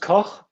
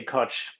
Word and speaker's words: Koch: So it's German, and it's pronounced Koch, but I say Koch. Koch, the coach, also has a good ring to it. And I thought about that, you could do some play on words with that one. So Koch. Yeah. Koch would be the German pronunciation, yeah.